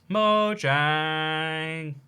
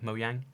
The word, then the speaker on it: Mojang: Also, why do people pronounce Mojang like Mojang? It's a Swedish company, and in Swedish, the J is a Y.